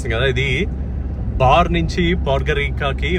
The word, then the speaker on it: Podgorica: It's from Bar to Podgorica They pronounce it as Podgirica They pronounce 'C' as 'Cha' Finally, I've reached Podgorica